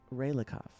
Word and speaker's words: Raylikov: So, I know you think you're being clever with your name, but I know how to say it. So, it is Raylikov, or Raylikov, if you will, because I heard you say it earlier, so joke's on you.